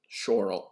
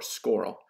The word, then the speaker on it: schorl: And then last, there is a variety called schorl or scoral. And we're going to put parentheses, garbage. The reason why schorl, both pronunciations are okay, is black and it has heavy iron.